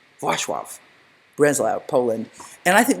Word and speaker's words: Wrocław: I'm told that's how it's pronounced. Wrocław, Breslau, Poland.